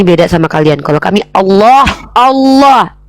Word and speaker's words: Allah: karena dalam bahasa Ibrani Allah itu artinya sumpah serapah. Inilah kenapa kami beda sama kalian. Kalau kami Allah, lamnya tuh kalau ada sama tasydid itu ada 3 tuh. Allah ditafkim bacanya ditebalkan. Allah bukan Allah ya.